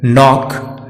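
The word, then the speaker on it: knock: के यदि वर्ड के आरंभ में एन के पहले आता है तो के साइलेंट रहता है, जैसे नाइफ, नो, नॉक, नॉलेज।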